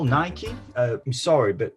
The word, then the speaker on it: Nike: Oh, is that how you call Nike? I'm sorry, but the correct way to say it is Nike. Why on earth would you call it Nike? Then how do you pronounce hike? Hikey? What about bike?